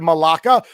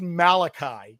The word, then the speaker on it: Malachi: You said Malaka. You We We told this before. I'm really bad with names. His name is Malachi. Clear as day. It's an I at the end, not an A.